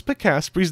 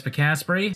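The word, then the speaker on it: Pikasprey: emerald but he also managed to pronounce picaspory's name wrong despite him saying his name at the end of the video my name is picaspry now on route 110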